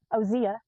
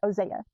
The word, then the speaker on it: Hosea: and it's either pronounced Osea or Ozeia, but it's h o s e a depending on where you're from and it may be pronounced a different way. You may pronounce the h Hosea or Hosea.